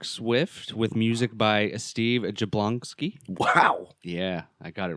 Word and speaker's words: Jablonsky: Shannon and Mark Swift with music by Steve jablonski wow yeah I got it right maybe sounded right jabloni sounds right to you with how it's spelled should point it to me J jablonsky there you go very much starring Jared padaki